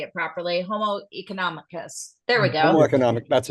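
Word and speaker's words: homo economicus: Arnold we gotta have somebody say it properly homoeconomicus there we go economic that's it there we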